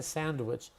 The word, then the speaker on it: sandwich: So, yes, the D is actually removed. We don't pronounce the D. That's a good sandwich. I'd like a sandwich.